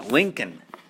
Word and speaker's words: Lincoln: spelling right here because there's a silent L in there yeah Lincoln okay Abraham Lincoln so yeah you don't